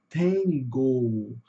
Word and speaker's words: tango: Então, aqui vai ficar tangle. Tangle. Olha aqui onde está a sílula tônica. Tá no T, tá no começo. Tangle.